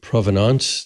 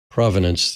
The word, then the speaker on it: provenance: and uh uh and provenance which I've heard pronounced both provenance the French or provenance the English is yeah I always think provenance